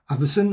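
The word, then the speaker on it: Avison: and you can see al averson that's how you say his name everson and sid shaw's as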